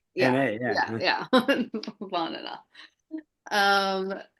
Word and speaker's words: Bhanana: Bahanana. Um, so it sounds like banana, but it's Bahanana.